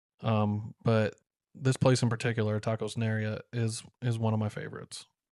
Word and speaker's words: Nayarit: There's one place in particular you were like, it's Tacos Nayarit.